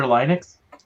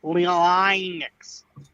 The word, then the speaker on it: Linux: they also work under Linux was which is what it's actually called thank you I had I had a friend in high school who kept pronouncing it leonix so it was his